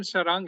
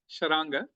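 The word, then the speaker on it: शार्ङ्ग: Actually Sarang बोलते हैं, बट इट इज SHRAN. So SHRAN people call it as. हाँ बस वो ये शरीफ बोलो, शरीफ तो शरांग, एक्चुअली उसका प्रोनाउंसिएशन शरांग है, शरांग.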